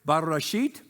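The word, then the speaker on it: בראשית: get learn Hebrew today bashit okay now remember you got to you got to get a little South of the Border and roll that R all right not bad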